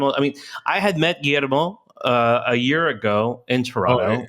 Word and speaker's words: Guillermo: They're in Toronto and they see the double Oh, L's and they pronounce it all the time. my name is Guillermo, so you don't have.